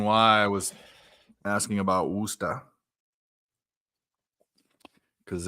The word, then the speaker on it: Worcester: The way he pronounced it, because you don't say the ER, it's the AR.